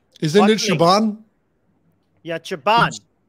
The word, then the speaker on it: Siobhan: Main bolu, main literal karunga to Sioban. Isn't it Shaban? Yeah, Chaban. It's Siobhan.